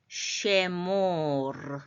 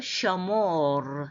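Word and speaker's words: שְׁמֹר: 그런데 이제 쉐모르 해도 되고 셔모르 이렇게 해도 됩니다.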